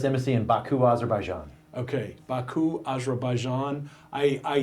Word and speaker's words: Baku: Okay, Baku, Azerbaijan.